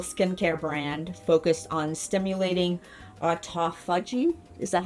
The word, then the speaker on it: autophagy: And today, I'm joined by Karina Moises, founder of Beautology Lab, a clean clinical skincare brand focused on stimulating autophagy. Is that how you pronounce it? Autophagy.